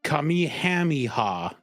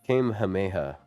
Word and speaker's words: Kamehameha: trying to say Kamihamiha. Hamihamiha, bro. Kamehameha.